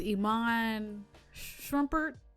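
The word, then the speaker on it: Iman Shumpert: to that too um like uh it was iman shrumpert that's how you say it the basketball player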